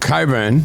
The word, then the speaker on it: Cockburn: It's not Coburn, like. Cockburn, but no.